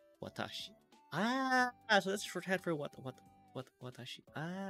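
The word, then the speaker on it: 私: Are you telling me that kanji there, it's pronounced watashi?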